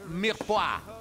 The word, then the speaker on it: mirepoix: Y si el cubito es más grande, se escribe mirepoix y se dice mirepoix.